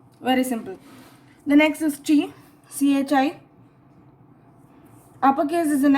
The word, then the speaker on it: chi: The next is Chi, CHI.